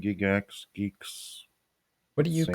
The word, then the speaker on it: Gigx: It's not Gigx, is it? No, that's fine. I mean, people saying Gigx, geeks.